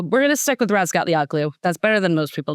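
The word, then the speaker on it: Razgatlıoğlu: It's Toprak Razgalia. The G is silent.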